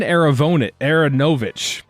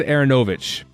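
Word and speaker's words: Aaronovitch: He said Aronovich during the whole thing, and people pointed it out. And then he tweeted out a couple days ago, here's a clip of Ben Aronovich saying his name, Ben Aronovich. So I think we've been saying it wrong the whole time. So sorry, Ben Aronovich. Baron Aronovich is how you should be saying it.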